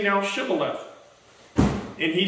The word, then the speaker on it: shibboleth: you guys all right say shibboleth and they would say sibylla it's a dialect thing they couldn't pronounce it right so it immediately